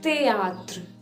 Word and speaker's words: théâtre: We don't pronounce ash in French, so it's théâtre, A, théâtre.